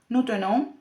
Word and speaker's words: tenons: La primera persona del plural se pronuncia nous tenons con la E cerrada y la nasal, aquí lo tenemos representado.